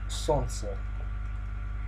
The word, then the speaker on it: солнце: And in some cases, the letter L is not pronounced. Just like K in knife, for example. So this one example is солнце. You don't hear the sound, neither the sound L nor the sound L in this way.